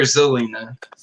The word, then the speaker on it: Zelena: Is it Selena or Zelena? Zelena. Zelena, yeah, that's how it's spelled. I just didn't know if she said it with an S or not.